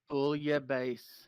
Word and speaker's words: bouillabaisse: You got to pronounce it right or it's not going to work. Bouillabaisse. Say it again. Bouillabaisse. You're mechanical and robotic. Say it clearly. Bouillabaisse. That's correct.